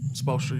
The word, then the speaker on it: Spoelstra: Spoelstra, you got it.